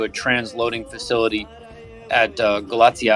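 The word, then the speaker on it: Galați: transloading facility at uh galatia i believe that's a pronunciation for those that are trying to find it g-a-l-a-t-i that's in southeastern romania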